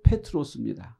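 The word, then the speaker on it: Πέτρος: 예수님 당시 이스라엘은 로마 식민지였고 로마가 사용하는 헬라어, 즉 그리스어를 사용했기 때문에 아람어인 게바, 반석이라는 단어를 헬라어로 말하면 베드로, 발음 그대로 하면 페트로스입니다.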